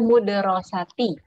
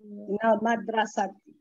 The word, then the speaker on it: مدرسة: Jadi Budita, tadi yang saya maksud itu yang saya permasalahkan itu mimnya tadi kan mu bukan ma ya kan ya? Yang betul bacanya ma gitu kan ya? Minal madrasati ahsan wa dhahaba ilal suqi.